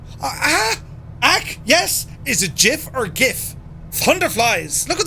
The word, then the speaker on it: GIF: you did ah jif gif yeah officially it's jif but i refuse to accept it is it jiff what